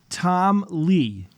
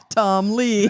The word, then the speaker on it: Tom Lay: It was sent in by a listener named Tom Lay, and he said it's pronounced Tom Lee.